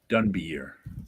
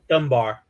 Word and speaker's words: Dunbier: Dunbier, however you say his name. I always said Dunbar. Yeah, Dunbier. Yeah, I always pronounced it Dunbar.